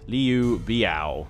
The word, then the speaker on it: Liu Biao: Also, massive thanks to everyone that was correcting my pronunciation on who I was calling Liu Biao. It's Liu Biao, apparently.